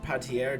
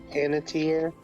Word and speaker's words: Panettiere: She is played by Hayden Patier, just an older one. Hayden Pantier. Panettiere. Panettiere. We're having some serious pronunciation difficulties this session.